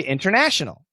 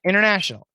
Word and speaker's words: international: So for ESL students, I always tell them, for example, the word winter, we should say winter. The word international, we should say international. Okay, keep the T. However, when you listen to Americans, even like Obama and Trump, the leaders of America, they'll commonly say winter when the T's gone, and they'll say international.